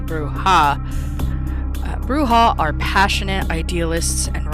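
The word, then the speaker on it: Brujah: CL here real quick brewha some may pronounce it bruja I say brewha bruha are passionate idealists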